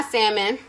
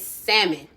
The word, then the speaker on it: salmon: go so on my salmon and yes there's no even though the l is there the l is silent it's salmon not salmon like i